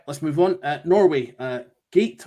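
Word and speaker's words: Gåte: Norway, Gate or Gatti and Ulveham, again, sung in Norwegian. Yep. That's pronounced Gote.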